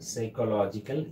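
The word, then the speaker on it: psychological: Happiness is absolutely dash সাইকোলজিক্যাল thing, absolutely A সাইকোলজিক্যাল thing, সাইকোলজিক্যাল। You just look at this spelling, Sai পি এর উচ্চারণ হচ্ছে না, এই জন্য আমরা অনেক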